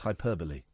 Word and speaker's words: hyperbole: By the way, the pronunciation of the word is hyperbole.